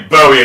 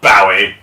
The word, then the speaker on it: Bowie: We say Bowie in this house, not Bowie. That's because one of those is right and one of them is wrong. Yes. It's supposed to rhyme with something.